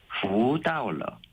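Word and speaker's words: 福倒了: 복이 거꾸로 되어 있다라는 발음은 부다올러, 또 복이 온다라는 발음도 부다올러. 이렇게 똑같은데요? 발음이 똑같아서 네.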